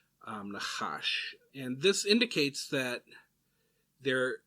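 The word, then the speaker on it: נחש: And that's interesting, but the root word for sorcery and the word for snake are actually pronounced the same, nachash.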